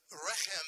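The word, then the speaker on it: רחם: really you were saying retum up there Dan you were saying wretch him you couldn't have just done a quick Google search on how to say this in Hebrew um but reim means Womb so when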